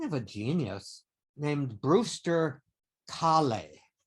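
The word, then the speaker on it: Kahle: a genius named brewster khalee i think that's how you would pronounce his name at least in german that's how you pronounce it khali or k-k-a-h-l-e and what he wanted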